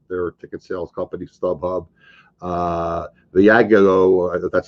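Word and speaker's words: Viagogo: Viago, that's how you pronounce it, led by the original StubHub founder, Eric Baker, acquired the company for $4.05 billion.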